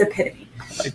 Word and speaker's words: epitome: to me you're the epitome or epitome i'm just kidding that's just sore no that's just how it's spelled and that's how i thought it was for the longest time but it's epitome anyway so you know